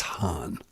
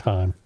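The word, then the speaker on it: Hann: I think it's Hahn. No, yes, it might be is. Han. No, it's Han.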